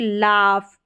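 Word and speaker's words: laugh: Silent रहता है लेकिन जी एच का फ उच्चारण भी होता है जैसे कि लाफ कफ और इनफ।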